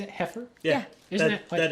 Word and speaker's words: Heifer: Heifer International? Is that how you say it? Heifer?